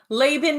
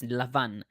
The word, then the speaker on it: Laban: just loved orange pronunciation Laban Laban is how it is typically pronounced by English speakers just so you know yeah so uh in in modern Hebrew at least it's Lavan and it translates to White